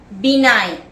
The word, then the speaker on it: benign: Benign, B-E-N-I-G-N, where the G is silent.